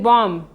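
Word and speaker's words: bomb: भी साइलेंट होता है जैसे बी ओ एम बी इसको हम पढ़ेंगे बम इसमें बम की बाद आया है तो यहां पर भी साइलेंट हो गया है एक कन्या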